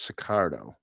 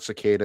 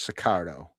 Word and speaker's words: Sicardo: It's Sicardo. His name's Sicardo. Yeah. All right. So it's not Cicada, it's Sicardo. Sicardo.